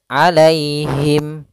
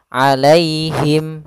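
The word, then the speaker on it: عليهم: di pada lafal alaihi alai itu ada ya sukun didahului dengan fathah. Maka di sini kita namakan dengan bacaan lin. Yaitu cara membacanya dengan bacaan yang lembut. alaihim la alaihim.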